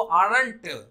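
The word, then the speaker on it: aren't: के आर्ट बनाते हैं, अगर आपको आरंट प्रोनाउंस करना है तो इसको आर्ट प्रोनाउंस, आर्ट मतलब चाची, वो वाला प्रोनाउंसिएशन करना शुरू करिए आर्ट, नहीं तो इसको आपको आई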